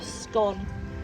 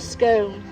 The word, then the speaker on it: scone: So in the UK, there's a bit of a north-south divide as to how you pronounce the word. you're all going to go home today and say the right way, which is a scone, not a scone.